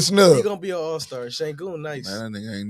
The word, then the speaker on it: Şengün: Şengün.